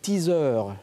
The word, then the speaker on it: teaser: Quand on va voir une bande-annonce de film avec, qu'on attend depuis très longtemps, on parle ici de teaser. Et c'est comme ça qu'on le prononce en France selon le Petit Robert.